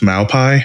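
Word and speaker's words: malpaís: Yeah, out in New Mexico, we lived out there for a little bit in Gallup, and I think it's pronounced Malpai, which is basically a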